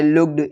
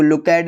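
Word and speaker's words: looked: जैसे लुक्ड, इसको लुकैड नहीं पढ़ते, लुक्ड।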